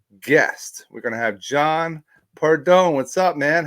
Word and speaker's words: Pordon: Well, not to belittle you, but my name is John Pordon, not John. But you know how many, Sean? You know how many people mispronounce my name? I'm lucky if my family gets it right. Okay, so it's Pordon. But Yes. listen, I've been called Pardon.